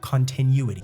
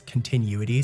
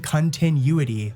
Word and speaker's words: continuity: Also, you guys have been on my ass about how I pronounce continuity. So, let me get it right. One sec. Ah, so I've been saying continuity, but it's continuity. Continuity. There we go.